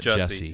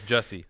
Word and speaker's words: Jussie: It's not Jesse. It's Jussie. It's Jussie Smollett.